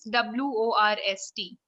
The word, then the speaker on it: worst: that works and one thing how do you pronounce w-o-r-s-t worst worst worst yes like you don't have